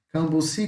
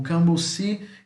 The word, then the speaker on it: cambuci: Cambuci, cambuci, tá? A única diferença que além da escrita é a pronúncia. Aqui no português o bu é mais forte e em Guarani é o cam.